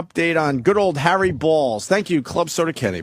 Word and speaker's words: Baals: And it's Harry Balls. It's spelled B-A-A-L-S. That's balls. B-A-A-L-S. Maybe go Harry Balls. The guy tried to change it to Baals.